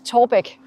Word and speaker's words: Taarbæk: So it has two letters that are very difficult to pronounce for foreigners. Yeah. So it's Taarbæk.